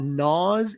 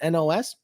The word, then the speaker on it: NOS: stuff because ricers and people that actually thought gnaws is how you pronounce nitrous oxide systems nos that's that that kind